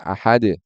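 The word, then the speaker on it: أحد: ya Qul huallahu Ahad yang harusnya dibaca dengan Ahad yaitu dengan Qalqalah tapi dibaca dengan cara apa dibaca dengan tanpa Qalqalah misalkan Qul huwallahu ahad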